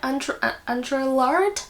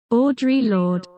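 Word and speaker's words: Audre Lorde: do you say that Andrea Andrea lard that's not how you say it I'm sorry Audra Lord Audrey Lord yeah I do always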